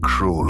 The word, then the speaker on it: Cruel: Cruel, or as it's meant to be pronounced, Cruel, is an absolute gem